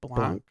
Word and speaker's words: Blanc: dude uh I'm uh I think people said blank but I think it's pronounced Blanc yeah and uh which